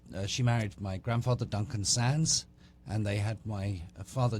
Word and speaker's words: Sandys: then she promptly said hello Mr sandies yeah and i i c i stupidly corrected her and said it's actually pronounced Sans and uh she thought